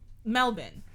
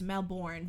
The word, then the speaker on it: Melbourne: of like you know in australia the like melbourne right um i say melbourne because that's how they say it and it's kind of like you like well it's your family so you're gonna say the name the way you choose but the way like we in canada and the states would pronounce that word is melbourne b o u r and but they're like no it's melbourne it's melbourne it's like all right